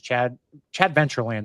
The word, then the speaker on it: Chadventureland: It is Chadventureland. That's how we're pronouncing it, right?